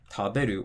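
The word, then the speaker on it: 食べる: Then for 3-syllable verbs like taberu or hashiru, again, counting from the end, ru, be, the drop's going to be after the be, and then ru, shi,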